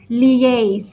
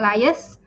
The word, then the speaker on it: liaise: So the correct pronunciation is liaise. It's not lias. I know a lot of Malaysians say lias.